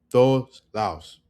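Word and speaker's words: todos lados: But when they swallow this word, it's like to, to, to. You see that? It's like we don't even pronounce the D. To, todos laos.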